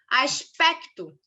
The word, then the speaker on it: aspecto: Aspecto. Pec é a sílaba tônica, tá?